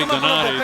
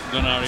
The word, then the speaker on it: Donaire: Once in a while you hear me say Dani. That's the way they pronounce it in the Philippines. And and when I talk to him, I say Donari. So I haven't lost my mind. I know it's Donire here in the United States.